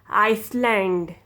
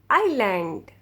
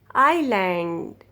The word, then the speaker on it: island: you don't ever say iceland you don't ever say iceland you're wrong you don't pronounce s s will be silent you say this word island island the correct pronunciation of this word is island island isle island debris